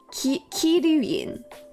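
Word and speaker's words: Kiryuin: Kiryun.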